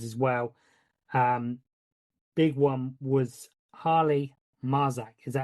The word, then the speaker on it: Harley Marzak: Big one was Harley Marzak. Is that how you say it? Holly Marjak, yeah.